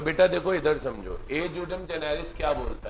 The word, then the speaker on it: ejusdem: देखो rule of ए जूडम Gennaris, pronunciation है EJUSDEM, ई को ए पढ़ो ज्यू, एस साइलेंट है, डेम, ए जूडम जेनेरिस।